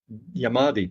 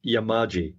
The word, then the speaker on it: Yamaji: actually because this this when you see it written what you pronounce is slightly different it is what do the Yamaji that's the correct pronunciation